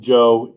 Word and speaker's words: Zhou: So the basic pronunciation: Shang, Zhou, Qin, Han.